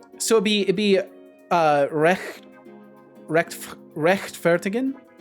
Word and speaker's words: rechtfertigen: The CH. So fricative, try to hiss like a cat. Oh, so it's right. So it'd be rechtfertigen, like that.